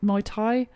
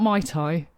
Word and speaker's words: Muay Thai: and he's now watch how do you pronounce it muay thai you know martial arts mai tai yeah not my tai no he's basically